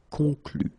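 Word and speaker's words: conclut: then here conclue okay keep in mind that even if you put this final and so the ending you don't pronounce it so phonetically you get con con Okay so El conclue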